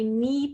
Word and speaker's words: knee: the bread this is that silent k that comes before the n at the beginning of some words then we have the